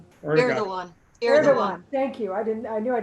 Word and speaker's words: Erdogan: Erdogan. Thank you. I knew I didn't. Yeah, say don't pronounce the G.